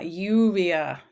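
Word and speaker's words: lluvia: in Spanish rain ah yuvia remember two L sounds like a y UIA right say d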